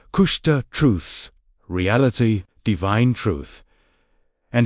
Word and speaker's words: Kushta: KUSHTA, pronounced KUSHTA, truth, reality, divine truth.